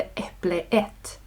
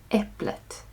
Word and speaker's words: äpplet: Detta görs för att göra uttalet enklare. Så det är inte äpple ett utan äpplet.